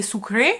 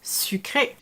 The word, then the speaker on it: sucre: learned the wrong word if you come in friends and say sucre most people won't understand you it's sucre hey so here a